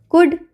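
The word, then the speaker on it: could: होता है पाम में कुड कुड में भी एल साइलेंट रहेगा वॉक वॉक में भी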